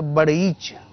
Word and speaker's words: بڑیچ: جو شاخ ہے وہ اس کا تلفظ جو کتاب میں مجھے ملا وہ ہے کہ وہ ڑے کے اوپر شد ہے تو بڑیچ.